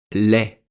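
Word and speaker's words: laid: Ou aussi dans l'adjectif lait.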